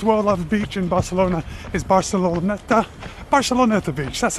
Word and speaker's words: Barceloneta: The most popular, the most well-loved beach in Barcelona is Barceloneta Beach, that's how you say it.